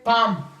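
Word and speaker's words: palm: है बादाम एलम नहीं एम एम फिर है पाम अली पाम हमारे पास फिर है ठक ठक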